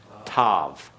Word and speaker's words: tav: Tau, which is alternatively pronounced Tav. All right, T-A-V is the alternate pronunciation.